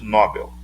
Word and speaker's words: Nobel: um palavras oxítonas aqui a pronúncia correta é no papel na hora de nobel assim como aqui se